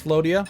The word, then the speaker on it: Floria: it's clear you can clearly tell that it's Floria I just for whatever reason kept wanting to say FL uh flaa cuz that like it that looks how it should be pronounced don't ask me why